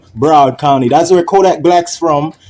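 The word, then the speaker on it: Broward: Bro Bard or Bard County, that's how they say it in Florida. Broad County.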